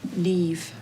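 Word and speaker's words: Niamh: you say so yourself what's your name trouble neve i can spell it next round's on me hmm n-i-e-n-h damn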